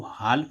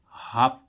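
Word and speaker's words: half: Silent हो गया। इसको हाल नहीं पढ़ेंगे। क्या नहीं पढ़ेंगे? हाल। क्या पढ़ेंगे? हाफ पढ़ेंगे।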